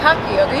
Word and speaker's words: Akakioga: We have here Akakioga Cosplay. Am I saying that right? It's Akakioga. You were close. I was close. It's very hard to pronounce if you're like just kind of looking at it.